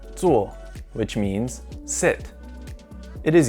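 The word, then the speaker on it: 坐: very common in asian countries this character is pronounced tsuo which means sit it is used in this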